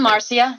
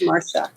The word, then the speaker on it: Marcia: up more often well I pronounce it Mara because that's the way my mother pronounced it but trust me I've